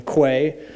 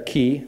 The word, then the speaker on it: Quay: use this image from Quay or ki depending on how you pronounce it I'm gonna add this